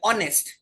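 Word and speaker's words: honest: उसको प्रोनाउंस नहीं करते सो I will not use this H spelling में लिखेंगे बखूबी लिखेंगे नेस्ट नेस्ट एच डी बट you will not यूज H while speaking you will say ऑनेस्ट एंड ट्स the reason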